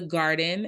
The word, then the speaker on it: Guarden: The name of my company is The Garden. It's spelled GUARDEN, like guard, like basketball guard.